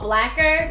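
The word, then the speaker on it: Blacquer: This is called Blacker, like spelled like lacquer, but blacker.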